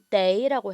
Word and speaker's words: 得: 떠라고 하지 마시고 day라고 해줄게요.